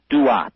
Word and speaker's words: Duat: The ancient Egyptians spoke of a special region of the sky, and they called that region of the sky the Duat. It's spelled D-U-A-T when you transcribe it into our alphabet.